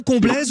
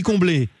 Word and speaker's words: Comblez: Je prononce bien Comblès ou on dit Comblé ?